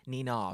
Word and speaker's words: Nina: I've always felt like I say your name wrong, like it's quite Nina, but it's not Nina, is it? It's Nina. It's quite clipped, or is it extended?